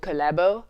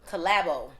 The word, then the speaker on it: Collabo: So the name of the song is called Collabo. Collabo. And that's how it's spelled, COLLABO.